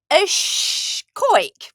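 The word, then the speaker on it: còig: So if we want to say the number 5 in Gaelic, we would say coig.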